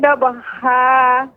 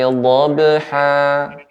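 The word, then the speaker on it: ضبحا: Huruf dhad Ibu, terus koreksinya huruf dhad ini pengucapannya yaitu tepi lidah ya, baik kanan dan kiri mengenai gigi geraham atas ya, dha. Wal adiyati dhabha, tidak menggunakan ujung lidah. Silakan Ibu diulang kembali.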